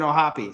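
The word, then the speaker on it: O'Hoppe: watched some clips today the people that work for the Angels who interview him refer to him as Logan Oh happy so that is the correct way to say it in case you're wondering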